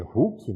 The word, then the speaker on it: hook: Como vocês estão vendo aí, a gente lê hook, né? Mas a pronúncia em inglês é hook.